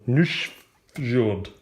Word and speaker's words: Nusfjord: see we are playing new short which is the correct way to pronounce Ian Welsh it is